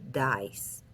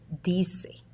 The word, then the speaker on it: dice: Okay, do not read dice. Say dice. ¿Cómo se dice?